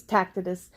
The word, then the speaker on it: Tacitus: I think it's Tacitus.